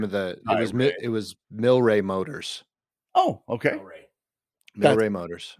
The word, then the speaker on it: Mylrea: Was it Myl? Yeah. Rea. Milray. Good for you. Did you see? That's exactly. Most people pronounce it Mylrea.